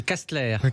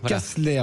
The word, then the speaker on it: Kastler: C'est Castler. Castler, voilà pour être très exact, merci.